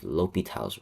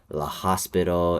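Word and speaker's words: L'Hôpital: So, this is what we have, L'Hopital's rule. Now, remember, this is pronounced as L'Hopital. It's not La Hospital, it's not anything like that.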